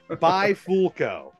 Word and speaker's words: Bifulco: joke because I just I can't get it by folco that yeah that was pretty good I'll give